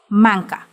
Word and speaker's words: manca: It is written or split intentionally to connect the consonants rather than the vowels. See how the N is closest to the C, not the A, which means you should extend the vowel throughout the entire duration of the note. In this way, the consonants N and C will be sung together.